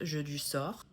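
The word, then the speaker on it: Jedusor: Jeu du sort, but in the books, they'd specifically say it is pronounced Jeu du sort, which sounds like a game of fate.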